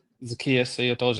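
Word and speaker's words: Zaccheaus: Oli is it I believe it's pronounced Zetius. Zakius. Yep. Zakius.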